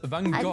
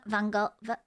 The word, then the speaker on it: Van Gogh: It's a Dutch name, and Dutch pronounce it as Van Gogh. I think isn't it Van Gogh?